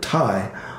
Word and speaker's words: tai: by the fact that the word thai also rhymes with the expression meditai which means congratulations the diet that we